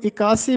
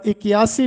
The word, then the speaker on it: اکیاسی: دوسرا لفظ ہے اکیاسی۔ اس کو اکاسی بھی بولا جاتا ہے اور اکیاسی بھی بولا جاتا ہے، دونوں طرح سے مستعمل ہے۔ تیسرا لفظ ہے